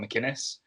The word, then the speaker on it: McInnis: like a lot of people can't pronounce my name uh mcinnis i usually tell him machines um and i've had